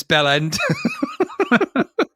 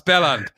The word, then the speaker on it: Belland: welcome to uh london miss bell end that's belland oh i'm so sorry